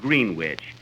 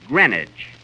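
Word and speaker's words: Greenwich: yesterday in green witch Village Kenny that's not green witch you see here in New York it's pronounced grenwich grenage see who did you go with Johnny Gren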